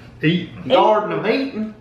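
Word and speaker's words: Garden of Eatin': trying these Garden of eaten uh corn tortilla chips and I'm not pronouncing that wrong it is eaten not eating it's eaten Garden of eat it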